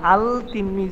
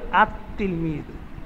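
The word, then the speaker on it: التلميذ: আলিফ লাম যোগ করি হই তাহলে ওই তিলমিজুনটাকে উচ্চারণ এভাবে করা যাবে না আল তিলমিজ এটা বলা যাবে না তখন উচ্চারণ হবে আত তিলমিজুন লামটা লিখায় আসবে কিন্তু পড়ায় আসবে না তখন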